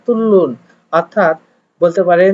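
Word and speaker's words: 뚫는: এখানে নুন একটা পার্টিকেল যুক্ত হয়েছে, কিন্তু উচ্চারণ হচ্ছে নিচের রিউলের কারণে উপরের নিউনটাও রিউল উচ্চারণ হচ্ছে, অর্থাৎ লয়ে লয়ে তুলুন।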